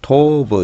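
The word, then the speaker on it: טוב: 토 그 다음에에 또 톱 다섯 번이나 나옵니다이 톱이라는 말은 뭐 진짜 제일 좋은 단어죠 히브리어 단어 중에 샬롬하고 톱하고 보통 샬롬은 평강이라는 모든게 좋은게 톱이죠 그래서 또 토브 이렇게 발음하기도 음제를 두개로 도읍은 하나로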